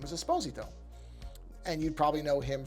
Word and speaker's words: Esposito: the name is Jean Carlo Esposito now often mispronounced as Esposito but it is not actually supposed to be